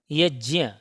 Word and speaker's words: यज्ञ: आपने कभी-कभी सुना होगा कुछ लोग इसको कह देते हैं ज्ञ और कुछ लोग कहते हैं ज यज्ञ है ना यज्ञ यज्ञ शुद्ध उच्चारण है यज्ञ फिर देखिएगा श्रा ये